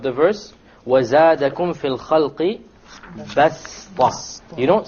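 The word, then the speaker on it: بسطة: Okay, so you don't pronounce it as a sad, you pronounce it as a sin, even though it is written as a sad.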